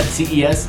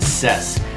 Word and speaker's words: CES: monday show is that ces is actually pronounced ses so i do apologize